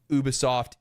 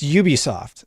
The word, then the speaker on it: Ubisoft: I have always said Ubisoft because it's from the word ubiquitous because I watch that